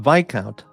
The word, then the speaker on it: viscount: Pete Helms pronounced Vic count. Well, of course. Yeah, the word uh is Vic count like Lord Mountbattton, Viccount of India. Yeah, we know. We know that it's an aris aristocratic title. We know that. But those people don't know how to spell. So, it's viscountous. Nick Nick knows what I'm talking about. He knows about the viscountness and misogyny pronounced vicount. A silent vount. No, it's vicount.